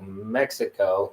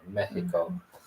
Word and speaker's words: Mexico: the H sound like Waka the x is an H sound so it's Waka or Mexico um because these are old words that predate predate the Spaniards um at least that's